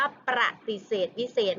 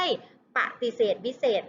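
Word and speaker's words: ปฏิเสธวิเศษณ์: คำ จำ พอ ค่ะ อ่าน ออก เสียง ว่า ประติเสธ วิเศษ ไม่ ใช่ ปฏิเสธ วิเศษ นะ คะ ใคร ออก เสียง ว่า ปฏิเสธ วิเศษ คือ ออก เสียง ผิด ทัน ที ต้อง ออก เสียง ว่า ประติเสธ วิเศษ ค่ะ มา ดู ชนิด ที่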